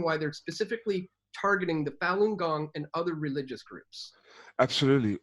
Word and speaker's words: Falun Gong: tai chi very similar to yoga meditation it's pronounced falun gong then and it consists of moral teachings and